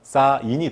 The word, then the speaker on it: 쌓인: 있으니까 얘는 어떻게 해야되요 그대로 그냥 뒤로 연음 을 시켜주는 게 아니라는 거죠 그래서 여기서는 닿을락 을 시켜서 실제 발음은 싸인이 되는 겁니다 쌓이다 도 마찬가지 쌓이다